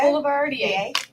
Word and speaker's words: Boulevardier: The Like Boulevard? Like street? Boulevardier? Boulevardier. Yes.